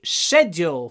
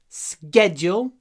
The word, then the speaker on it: schedule: Можно говорить schedule и можно говорить schedule. Все равно устройство понимает, все понимают, потому что это слово можно произносить и так, через ск, schedule, или через ш, schedule.